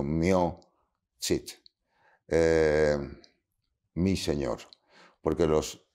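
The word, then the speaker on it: mio Cid: cantar del mio chit que así lo pronunciaban mio no mío sino mio chit Eh mi señor porque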